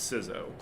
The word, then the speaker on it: CISO: you pronounce it yeah so I am of the school that it's information Chief Information officer so it's sizo it's a short I